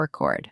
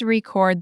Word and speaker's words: record: I need to update the R record. That's the noun because you stressed the first syllable. It's the file. Correct. Now try this. Please record the meeting. Verb. Stress on the second syllable.